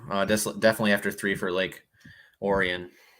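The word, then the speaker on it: Lake Orion: desktop rainy tomorrow uh definitely after three for Lake Oran right that's how it's pronounced cool yeah cold water's South Southern Michigan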